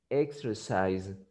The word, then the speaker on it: exercise: example in the present this is pronounced exercise exercise exercise exercise why because the S is between vowels and when the S is between vows you pronounce it like Z yes exercise so in